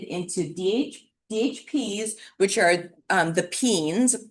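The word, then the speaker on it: -pine: DHPs, which are the penes. It looks like pine, P-I-N-E, but it's pronounced peen.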